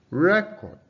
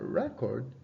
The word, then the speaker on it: record: Record. A record is a document. Increase. That is a rise. All right. Now that's showing you that the stress is on the first syllable, right?